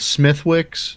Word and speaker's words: Smithwick's: It's spelled Smithwick's, but Oh yeah, it's okay. Yeah. okay. It's actually, if you talk to an Irishman, it's Uncle Al. Smithwick's.